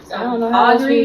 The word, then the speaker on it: Audre: in like in the school Pierce it's a-u-d-r-e Audrey you pronounce it Audrey it's three against someone um